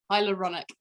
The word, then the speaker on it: hyaluronic: i'm going to say it wrong hydrochloric acid hyaluronic hydrochloric is not good right high yeah hyaluronic